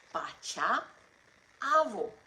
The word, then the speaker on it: પાછા આવો: And if you're calling them back, then you have to say pacha avo.